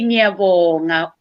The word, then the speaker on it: ngiyabonga: We say ngiyabonga in the singular form, or in plural form we say siyabonga.